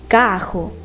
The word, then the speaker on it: carro: and in other cases people are pronouncing the R like H, carro, guerreiro.